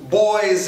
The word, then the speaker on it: boys: Boys and girls? Sim. O proud de boy é boys com z em posição final, assim como girls também vai ser z em posição final.